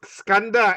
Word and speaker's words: Skanda: Yeah, the Kanda is Skanda, S-K-A-N-D-A. Should be K-H-A-N-D-H-A. So you pronounce S-K lah, not K-A-N, S-K-A-N.